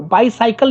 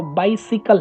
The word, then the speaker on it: bicycle: Subway, airplane, train, बाइसिकल, देखो बाइसाइकिल नहीं बोलना है, साइकिल हो गया, bicycle, हाँ साइकिल वर्ड है, प्रोनाउंसिएशन साइकिल, साइकिल से मेरा साइकिल जो आ गया वो बाइसाइकिल बोलते हैं इंडिया में, बाइसाइकिल नहीं है वो, बाइसिकल है, वो सिकल हो जाएगा,